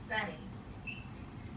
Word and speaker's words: sunny: it with a BRI the Y is in the final position and I know the accent falls on the first syllable so this would be an e sound with a mron the word is sunny